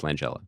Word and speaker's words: Langella: I mention it but it apparently is Frank Langella I've never I've always kind of hemmed or hot it but it's Langella okay and there were a couple of you